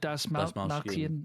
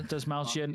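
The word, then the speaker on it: Dastmalchian: David Dasmalkian. Yeah. Dasmalkian.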